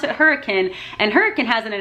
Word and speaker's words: Hurricane: a half hour away from hurricane it's not hurricane it's spelled hurricane but they pronounce it hurricane and hurricane has it in an out burger